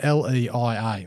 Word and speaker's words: Leia: So they released some drill results from the – I can't pronounce it – Hutt and Lee Pegmatite. So Leia, is it L-E-I-A, Leia.